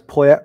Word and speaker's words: Poyet: I mean, there's the back in the proper era when they had Gus Poyet being your top striker.